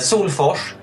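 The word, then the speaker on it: Salfors: yeah how do you how do you say it h Soul Force Soul Force yeah like you know the the Swedish Chef The Mao so that's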